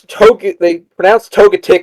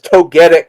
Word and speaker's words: Togetic: They pronounce Togetic as Togetic for no reason, even though you don't call Togepi Togepi, and you don't call Togekiss Togekiss.